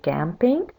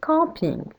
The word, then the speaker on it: camping: So camping and camping are spelled the same way, but when speaking in French, we don't say camping, we say camping.